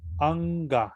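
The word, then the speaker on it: aṅga: La N gutural, Anga. que es justamente la que tiene el puntito arriba, cuando la veamos en los versos en sánscrito, se pronuncia justamente así. Anga.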